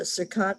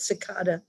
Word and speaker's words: cicada: the car and there was a circad cicada that's how you say it cicada and she picked it